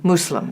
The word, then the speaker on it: Muslim: the partisan yeah so a Muslim not a Muslim or we have some a different pronunciations but the most correct is Islam and Muslim Muslim yeah we're and now